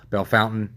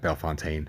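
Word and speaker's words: Bellefontaine: bell Fontaine uh Ohio belf Fountain if you want to say it like that b Fontaine I'm from Ohio and I said B Fontaine I was thinking pre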